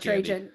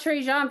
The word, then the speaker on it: Trajan: Wait, I thought we were talking about Trajan. Now you've confused. We're talking about foram. He literally talked about Trejan for like 30 minutes mispronouncing it.